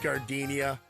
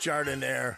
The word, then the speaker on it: Jardiniere: And guys, when you're at the counter, don't call it gardenia. It's pronounced Jardiniere.